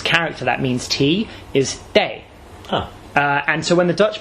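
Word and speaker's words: 茶: In Minanhua, the pronunciation of this character that means tea is day.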